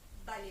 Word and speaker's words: vale: qu'on utilise ce mot-là, on dit balai, donc ça s'écrit valet, V-A-L-E, mais on le dit balai parce que du coup on prononce le B et le B, B.